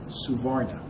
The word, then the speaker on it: suvarna: abides by the rules of caste is called suvarna suvarna is s-u-v-a-r-n-a sometimes it's spelled s-a-b-r s-a-b-a-r-n-a suvarna means having color anyone